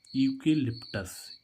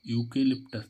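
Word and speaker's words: eucalyptus: सी ए एल वाई पी टी यू एस यूकेलिप्टस यूकेलिप्टस देखो यहां पर भी क्या आ रहा है यू इसका यू का उच्चारण क्या हो रहा है यू यूकेलिप्टस मींस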